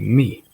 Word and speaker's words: Mee: Substitution of Eddie Kelly and a manager Bertie Mee. Like me, spelled with M-E-E, says me.